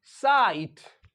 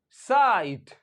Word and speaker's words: sight: तो इसी तरह से स्पेलिंग होती है SIGHT, साइट, साइट। तो ये जो GH है ये तो नहीं पढ़ा जाता है, ये तो साइलेंट रहता है, लेकिन आई की आवाज को जरूर बदल देता है ये, साइट।